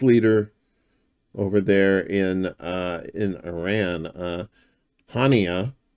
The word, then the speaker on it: Haniyeh: over there in Iran, Haniyeh. I think Haniyeh. I think it's Haniyeh is how you pronounce it.